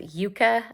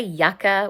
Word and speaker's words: Yuka: It's actually pronounced Yuka. I used to say Yucca, which I think is better, but actually I think it is pronounced Yuka. It's Yuka.